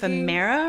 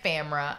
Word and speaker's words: Femera: that you made on Femera, right? Yeah. Well, here's the thing also, it's Femera. I've been calling it Famera. I don't even say it right.